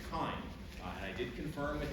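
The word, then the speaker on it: chyme: it a bis anymore instead we call it kind and I know that everybody wants to pronounce pronounce this ch or chiny or something with that sound at the beginning but it's not it's kind and I did confirm with Aaron last night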